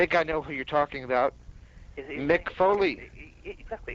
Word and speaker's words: Foley: Mick Foley. Exactly. It kind of rhymes with Louis Spicoli, doesn't it? Mick Foley, Louis Spicoli.